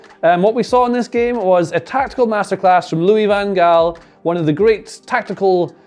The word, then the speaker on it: Van Gaal: Van Gaal is how you say it, really, that's how you're supposed to say it.